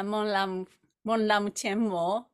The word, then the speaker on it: Monlam Chenmo: Yeah, Monlam Chenmo, and the Great Prayer Festival, English translation.